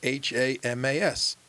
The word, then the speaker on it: Hamas: that the letters are h-a-m-a-s the hamas so it's the it's always a definite article the way it should be pronounced the hamas because it's the islamic